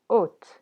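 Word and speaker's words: o't: in meaning for example the word ot which means horse versus ut which means grass the pronunciation again art versus oat there are 22 consonants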